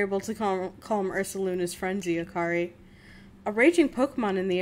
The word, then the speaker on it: Akari: very good work indeed akari you got the fragment back safe and sound it's a car Ray it's akari actually she told me but